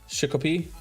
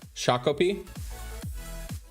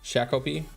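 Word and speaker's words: Shakopee: Shikopi. Leave it to the only one that's from Worcester to know how to say it. Shakopi. Interesting. Shakopi.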